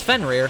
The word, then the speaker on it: Fenrir: Also, here I thought it was like Fenrir. No, it's Fenrir. It's rear.